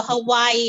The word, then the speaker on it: Hawaii: like a V oh in Hawaiian they pronounce the W like V yeah so Hawaii is actually Hawaii and